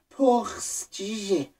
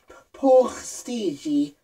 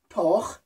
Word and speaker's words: Porstj: Om ni ser P U R S, vad fan det står. Ni ser hur fan uttalas det, Ryssland eller Estland, Lettland, Litauen. Ni kan ryska med. Porstigi, porstigi, porstigi, por, por, por. Det är inte por. P U R, det är por.